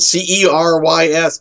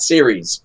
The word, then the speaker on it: Cerys: It's spelled C-E-R-Y-S, but the C in Gaelic languages is always the hard C. So it's Cerys, not Ceres.